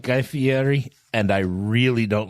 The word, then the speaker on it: Fieri: do you say that it's the Airy Ferrari no Fieri I would much rather